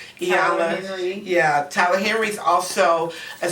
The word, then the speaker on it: Iyanla: We have a life coach, which is Elanya. I don't know how to pronounce her name. Iyanla.